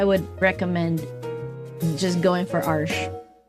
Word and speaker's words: Arches: I learned how to pronounce that. Arches.